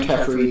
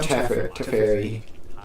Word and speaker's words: Teferi: So what I was going to say is that Torch the Tower means they can't jam Teferi, tuck the Fear, and then still keep their Teferi.